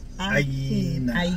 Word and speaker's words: Aegina: So we just learned to the correct pronunciation of the island is Aegina.